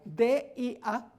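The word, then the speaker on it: διά: Es la preposición dia en griego, dia, D-I-A. En vez de tener el acento dia en la I, tiene el acento en la A, dia.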